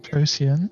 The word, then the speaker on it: Procyon: Procyon, yes, that's how it's pronounced in the original Greek.